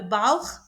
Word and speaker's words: Bauch: Et finalement, un exemple de Bauch, ventre, belly. Je répète. CH, on le prononce.